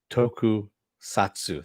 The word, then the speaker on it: tokusatsu: the toku tokatsu uh toku satsu there we go i've gotta actually pronounce it tokusatsu because otherwise i [